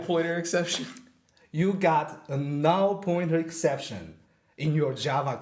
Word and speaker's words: null: cuz like bu new b u l l and n l l that's they're much alike do people say red bo bo is that what people red bu like new yeah yeah oh wow no it's null yeah it's null everybody null pointer exception you